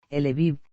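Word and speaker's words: Львів: o en alemán, Lemberg, pero su nombre local en ucraniano es, Lviv, pronunciado Lviv.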